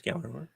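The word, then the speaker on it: Gjallarhorn: No, it's Gallahorn. I don't know. They have a lottery commercial. The J and they is said silent. word. Yeah, I was like, It's like GJALLERHORN. So the J is silent.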